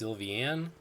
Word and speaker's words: Sylveon: a stab in the dark I assume it's pronounced sylveon I was born bah-bah warm and toasty let's